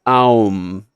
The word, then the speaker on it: Om: The final sound a mouth makes when closing or ending is m. For the mouth to for the m sound to be made, the mouth has to shut. M m. Ah. So it's the opposite, right? Ah is opening. Ah beginning sound comes out. M it ends. The u in between the a and the m is what brings them together. The beginning and the end. Right? It's om and this also represents the whole of reality.